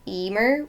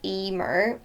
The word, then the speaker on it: Eimear: most commonly asked question my name is pronounced Emmer so that's my first name so Emer my surname which nobody